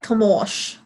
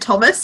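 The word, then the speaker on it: Tomasz: on her phone, and it's like Tomosh. Oh, nope. That sounds a lot more accurate than and Thomas in my head.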